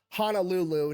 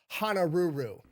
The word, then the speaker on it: Honolulu: And Lulu CEO pronounce it Hanaruru. Nice. For those of you who don't know, there is not a dedicated L sound in Japanese, by the way. They use the R sound.